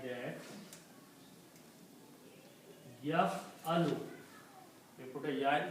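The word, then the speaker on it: يفعل: ya in the beginning, and these three letters pronounced like that, yaf-alu, we put a ya in the beginning, and pronounce yaf-alu.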